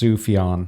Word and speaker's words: Sufjan: I learned from Childish Gambino that it's pronounced Sufjan.